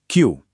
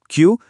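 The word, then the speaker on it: きゅう: नौ है क्यू। क्यू और 10 है जु। यहां बस एक छोटी सी ट्रिक याद रखनी है। क्यू बोलते समय जो उ का साउंड है उसे थोड़ा सा लंबा खींचना है।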